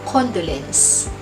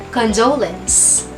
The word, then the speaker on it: condolence: Pero simula sa araw na ito, huwag mo ng bigasin ang salitang ito na condolence. Ang tamang bigas sa salitang ito ay condolence.